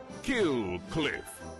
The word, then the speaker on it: Kill Cliff: l c l i f f pronounced kill cliff noun definition 100 winning in american hillcliff a